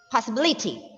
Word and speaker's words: possibility: we t right so for the words ending with y the rule is to stress on the third last syllable that is two syllables from the last not two syllables three